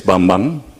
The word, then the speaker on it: Bambang: But so my name pronunciation is Bambang, yeah, Bambang.